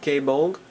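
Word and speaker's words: Gáe Bolg: Dragunity Gaybolg. It's how it's pronounced. It's more like Bug.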